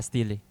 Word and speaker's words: Steely: Steely. Ste. How do you spell that?